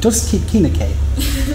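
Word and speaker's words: Druskininkai: Druskinkai.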